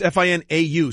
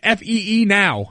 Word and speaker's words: Finau: Yeah, it's Finau, so there's a lot of what's going on there? As far as I'm concerned, it's Fee now.